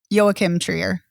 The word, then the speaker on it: Joachim Trier: it's uh it's directed and written by uh joachim trier and uh it's co-written by eskel vogt i i think i got that right yo kim trier gotcha only because i only because i studied the pronunciation would be a video yes thank you